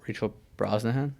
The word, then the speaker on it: Rachel Brosnahan: I've only seen Emma Mackey and then Rachel Brosnahan. Is that how you pronounce the last name? Mm-hmm.